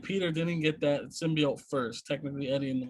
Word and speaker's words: symbiote: pronunciation of that word i've been saying symbiote for years and then that woman just like hits that t with like a punch in the face yeah but i will